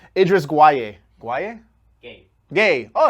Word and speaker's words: Gueye: Gay. Oh, it's pronounced like that. Okay, Idris Gay.